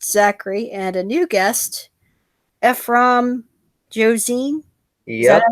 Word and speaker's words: Ephrom Josine: I'm your host, Ancapa Kitty, with returning guest Zachary and a new guest, Ephrom Josine. Is that Yep, how you pronounce it?